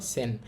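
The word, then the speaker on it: 千: আর এটার নাম বা উচ্চারণ হবে চি অথবা সেন। চিটা খুবই কম ব্যবহার হয়। সেন বেশি ব্যবহার হয়।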